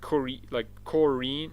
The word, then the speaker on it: Corin: I mean Corin Bush. Yeah, sorry. Someone said to me like, hey, you pronounce it like Corinne. I'm like, oh, okay, Corin.